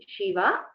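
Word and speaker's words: शिव: The first one is Shiva. The second Shiva is Shiva. A Dirgha is there.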